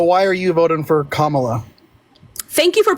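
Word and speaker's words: Kamala: time okay so why are you voting for kamla thank you for pronouncing her name right baby right so I'm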